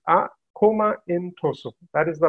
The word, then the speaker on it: Akoma Ntoso: standards for different sectors so how do we pronounce our comment oh so it's a coma intro so that is the right way to pronounce